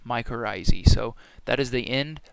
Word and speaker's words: mycorrhizae: And the last slide here for this whole entire chapter is a mycorrhizae is how you say this. So mycorrhizae, and that's how fungi form mutualistic relationship with plants.